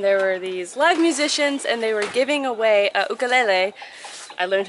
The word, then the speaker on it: ukulele: And there were these live musicians and they were giving away a ukulele. I learned how to say it properly. It's not ukulele, it's ukulele.